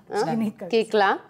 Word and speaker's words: Koechlin: Kekla, chocolate kekla mere liye. Kekla. Aaj ki nahi chocolate cake la mere liye.